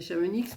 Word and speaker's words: Chamonix: j'avais amené des chamonies c'est-à-dire des Chamonix parce que les gens de Chamonix ils m'ont dit c'est il faut pas prononcer le X donc là pour changer